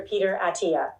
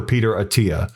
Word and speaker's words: Attia: Attia, that's the AI voice not knowing how to pronounce his name as Peter Attia. And if I'm wrong about that, then that's funny, but I'm pretty sure it's Dr. Peter Attia.